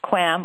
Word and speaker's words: QAM: use quadrature amplitude modulation or QAM sometimes pronounced quam or quam the basic important the